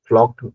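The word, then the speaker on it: für: आप स् बिन ग्लैड फो फो होता है फो आर साइलेंट है या तो फो हल्का सा आर को रोलिंग साउंड में फको या फिर फ आर को साइलेंट कर सकते हो आप उसके बाद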